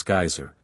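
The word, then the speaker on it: Geysir: the waters the geyser a word the icelanders pronounce geyser and which signifies Fury Rose majestically from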